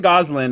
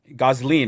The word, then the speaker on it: Gosling: goslin as uh ken goslin is that how you say it is that how you say it gosling yeah i got yeah i wish